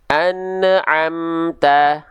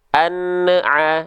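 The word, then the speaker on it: أنعمت: Contoh misalnya an'amta, an'amta, an'a. Nah, nggak boleh an'a, na'a, nggak boleh. Taunya dia mantul dari mana, Bang? Terindikasi di ujung pelafalan itu ada bunyi vokal EU. EU itu kalau di Sunda tuh bunyinya. Ini keliru. Tidak boleh.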